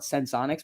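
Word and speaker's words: Senseonics: very promising out of People call it Sensonics, but that's not how it's spelled. So I call it Sensionics because I can call it what I want.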